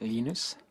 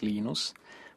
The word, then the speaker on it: Linus: came along Minister Linus what's exactly your preferred pronunciation when I speak Swedish it's eNOS speak Finnish it's Lino's when I speak English its Linus and I really don't care how people browse